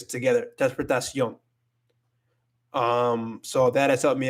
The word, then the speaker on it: transportación: So at the end of it, you have it's pronounced like this, yon. It's not transfer. It's not transport on. It's not like that. It's transportación. Yon. You connect it all together.